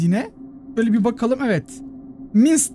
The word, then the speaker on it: Minced: Minsk diye okunuyor arkadaşlar.